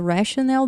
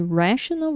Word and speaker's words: rational: E assim como, né, eu comentei já isso, né, que rational, rationale. Rational, a pronúncia é mais forte no começo da palavra, rational. E rationale é no final da palavra.